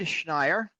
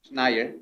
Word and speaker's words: Schneier: Bruce Schneier. Did I pronounce it correctly? It's pretty good, Schneier. Schneier, okay. That's perfect.